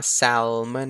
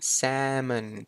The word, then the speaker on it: salmon: ครับ salmon salmon อ่า ไม่ ใช่ อ่าน ว่า salmon นะ ตัว L ไม่ มี นะ salmon salmon แม ก็ คือ